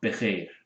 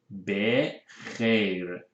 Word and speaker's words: بخیر: شب بخیر. بخیر. خ is a letter that is sometimes difficult to pronounce especially for English speaking people. خ from your throat.